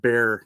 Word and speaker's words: Bexar: it is actually pronounced Bear County like pyvan yeah uh it's more it's a closer to the Spanish pronunciation of the word okay so silent X yes okay before we